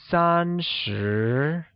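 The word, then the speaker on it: 三十: translates to are sure thirty that is three and ten becomes sun sure fifty or five and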